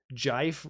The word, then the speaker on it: Jife: Jife rhymes with wife with a J as in jar, initial.